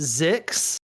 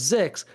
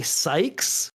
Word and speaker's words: Szykz: yeah i mean i i have pronounced it six um but so because my last name is okay um so like that's why it was zix but like people have been calling me sykes and i think that's